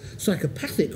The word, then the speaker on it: psychopathic: And believe me, these are difficult words, because you've got psychopathy with a stress on the first syllable, psychopathic with a stress on the third, and sociopathy with a stress on the second to last.